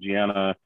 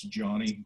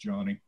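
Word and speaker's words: Gianni: It's I just want to correct everyone. It's Johnny, G-I-A-N-N-I. It's okay. Pronounced Johnny.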